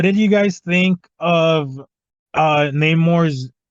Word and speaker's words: Namor: also That's like, also why they're pronouncing it differently, because the original is just Roman spelled backwards because it was Atlantis in the comics, and that's more based on the Greek and Roman like cultures were here. This one's Mesoamerican, so it's Sin Namor.